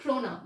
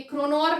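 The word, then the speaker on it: krona: And last month he had received all ऑफ 30 क्रोना। ये क्रोनॉर नहीं है, okay, you have to pronounce it एज क्रोना।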